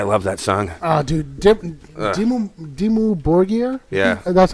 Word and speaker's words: Dimmu Borgir: Dimmu Borgir? Yeah. That's how you pronounce They're it?